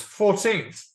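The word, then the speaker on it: fourteenth: you notice that uh with these these numbers 40th has three syllables and the stress is on the first syllable whereas 14th also has three syllables but the stress is a bit different isn't it yeah the the stress on 14th is on the teth yeah whereas on 40th it's on the first silbo another tricky thing is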